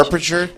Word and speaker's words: aperture: Aperture? Aperture. It's spelled aperture. Aperture. Is it spelled aperture? Isn't No. it? Oh no, it's aperture. I'm putting an Aperture. extra R in there.